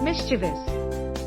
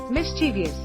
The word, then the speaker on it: mischievous: Mischievous. Incorrect. Mischievous. Correct. MSTVS. Mischievous. Tip: it has 3 syllables, not 4. The middle syllable is pronounced ch. 6.